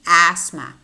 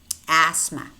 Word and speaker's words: asthma: teeth and we have a word which contains that he ate but the T is silent namely asthma asthma then we have the